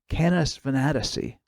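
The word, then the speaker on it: Canes Venatici: beautiful Whirlpool Galaxy and canis venetici sometimes you'll hear it called canis fanaticy although I like the pronunciation Kenneth venetici better catalog this Messier 51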